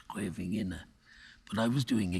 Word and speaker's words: Scheveningen: I'm not pronouncing that exactly right. That was the name of a town that in the Second World War, the Dutch underground used to, because the Germans were infiltrating, but they could never pronounce Scheveningen.